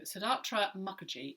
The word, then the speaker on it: Siddhartha Mukherjee: maladies by siddhartha mukherjee so siddhartha mukherjee is how i would pronounce that uh i'm open to people pronouncing it differently but that's where i'm going to go with it and it's the emperor